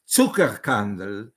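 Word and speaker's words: Zuckerkandl: molecular clock discovered by I'm using a German pronunciation because it was Austrian Emil Tucker candle and the famous American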